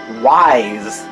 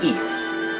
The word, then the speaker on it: Ys: Master System version that kind of leave like wise and not East which is the proper pronunciation so anyway East vanished you have to